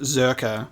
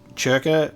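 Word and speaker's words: Czerka: of this okay so it's pronounced zerka and the c is silent the only reason why i was saying circa is because i like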